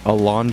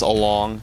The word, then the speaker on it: Alonge: how to pronounce it it is Ali usually people think it's along cuz of Tom dong it's spelled pretty much